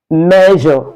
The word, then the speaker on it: measure: Measure. So it's not mayo.